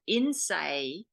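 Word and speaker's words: Innsæi: from Iceland of all things and it's called Innsaei. That's an Icelandic term. Let me spell that for you.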